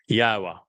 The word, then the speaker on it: Yahowah: Al Benim Yahwa which is the proper pronunciation of the name of our Eloha God as directed by his Torah teaching regarding his haya existence.